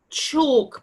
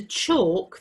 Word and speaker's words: chalk: a talk or talking listen to the sound it's all but it's spelt alk this is a chalk board and this is the chalk that goes with it